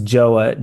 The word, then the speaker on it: Joah: And it's kind of like it sounds Joah.